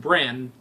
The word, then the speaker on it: Bran: wrote down bran which you guys told me it's pronounced brand because it's short for Brandon but I didn't but